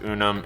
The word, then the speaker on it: Unum: the app called unum it spelled you and um I think it's pronounced unum if it's not somebody